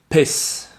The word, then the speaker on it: piss: Ça, je vous invite à regarder l'écrit pour bien voir la différence. Peace. Et vous avez piss, qui est de la pisse. Piss. Je répète les deux. Peace. Piss.